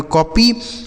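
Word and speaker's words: copy: आगे लिखा है COPPY, तो CO से हो जाता है दोस्तों क, और PP से हो जाएगा, देखिए ओ का उच्चारण आ हो गया, PY से हो जाएगा P, इसे पढ़ेंगे कॉपी।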